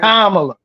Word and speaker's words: Kamala: It's pronounced Right. Kamala, right?